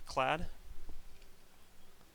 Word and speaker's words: clade: thought about doing a clad clade depends on how you want to pronounce it i think clade is the more uh accepted what is it cladogram